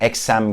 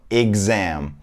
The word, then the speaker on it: exam: telaffuz edildiğini çok duyuyorum burada içsin sesi yok ve birinci hece vurgulanıyor yani eksem gibi bir şey olmuyor birincisi E iyi diye telaffuz ediliyor ve oradaki x kız oluyor exam ve ikinci hece telaffuz ediliyor arkadaşlar birinci Ece değiliz